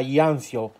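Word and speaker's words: Jansjö: questa la lampada IKEA jans Joe che si pronuncia gli Anzio Però io la chiamerò gians e purtroppo queste lampade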